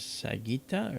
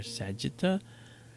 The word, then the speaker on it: Sagitta: This is Sagitta or Sagitta. Depends on how you pronounce it.